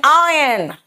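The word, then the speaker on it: iron: एंड आयरन बेटा आयरन नहीं होता। इट्स आयरन आर साइलेंट यहां पे आयरन है ना?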